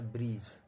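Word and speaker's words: bridge: डी कब silent रहता है? जब डी के बाद जी हो। जब भी डी के बाद जी रहेगा। जब भी डी के बाद जी रहेगा डी साइलेंट रहेगा। इसको पढ़ा जाता है ब्रिज।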